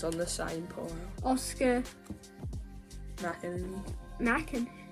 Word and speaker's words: McInerney: Oscar McInerney. Mackin. How do you say it? McInerney.